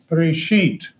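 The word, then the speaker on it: בראשית: So here you got B, R, silent letter, S, H, Y, T, Bereshit.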